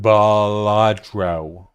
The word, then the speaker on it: Balatro: It's pronounced Balatro.